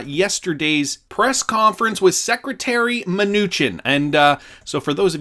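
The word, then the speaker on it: Mnuchin: press conference with Secretary minuchin and so for those of you guys who do not know how to pronounce it for the record Stephen Newton it's Stephen minuchin alright just to get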